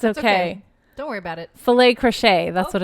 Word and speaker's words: filet crochet: Filet crochet. That's Oh, what it's called. she Filet got it. crochet. It rhymes.